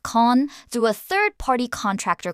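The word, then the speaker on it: Cannes: Meta launched an internal covert operation code named after the French film festival city, pronounced Khan, through a third-party contractor called Covalent.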